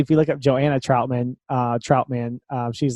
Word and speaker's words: Troutman: or not do you go by is it pronounced Troutman or trout man Troutman Troutman okay I think it's Jeremy you